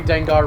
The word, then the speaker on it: Dengar: Now I'm just thinking about Pokemon because very Dengar rhymes with Gengar, and that's all I got.